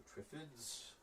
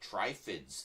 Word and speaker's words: Triffid: these on the Shelf um Day of the Triffids I remember talking to a friend of mine when I was younger and he says they should pronounce it trids that sounds more evil trids no it's it's